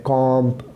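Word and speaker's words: comb: for example lamb, for example Tom, for example Baum, इन सब के एंड में कॉम्प, हम जब कंघी करते हैं कॉम, तो ये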